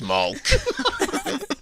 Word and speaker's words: Malk: No, it's Malk. Probably. Sounds like chalk. Yeah, it is. It's spelled the same as chalk.